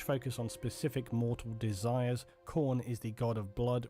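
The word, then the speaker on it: Khorne: get powers from yeah pronounced as corn that's the best thing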